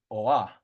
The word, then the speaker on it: oa: Yellow would be oha with the H, oha. But then orange, you drop the H and it's just oa.